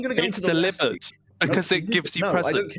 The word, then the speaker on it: Delibird: Delibird is everyone has been mispronouncing it, and it's delivered.